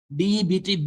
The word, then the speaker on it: debt: DEBT, B is silent. That is why I'm telling you debt. Don't tell debt. It is called a debt.